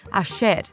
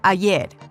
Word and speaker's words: ayer: They pronounce their double L's and Y's with a sh sound, as in ayer or calle, instead of ayer or calle.